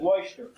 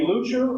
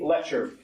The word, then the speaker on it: Leuchter: or as some pronounce it, loyster. A few weeks ago, he said to me on the phone, "You can call me Lucher or Lyster. Just don't call me Lecher."